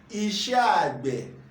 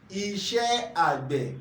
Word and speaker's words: Iṣẹ́ Àgbẹ̀: Farm Work, which Yoruba call Iṣé Àgbè. Iṣé Àgbè. Can you pronounce that with me? Can you say that after me? Iṣé Àgbè. Iṣé Àgbè.